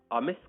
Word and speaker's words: amiss: अमिस का मतलब होता है अनुचित, और सिंपली उसको इंग्लिश में कहा जा सकता है इम्प्रॉपर और रॉन्ग। तो आइए इसका प्रोनाउंसिएशन देखते हैं। इसको ऐसे कहते हैं अमिस।